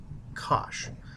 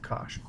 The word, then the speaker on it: cosh: Hyperbolic sine of x is actually sinh of x, and hyperbolic cosine of x is just cosh. It's like gosh, but with cosh.